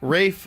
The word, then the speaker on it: Ralph: boisey boisey how about Rafe fins whose name is spelled Ralph my name is spelled Ralph but I want you to call me wraith the L is silent wraith and the a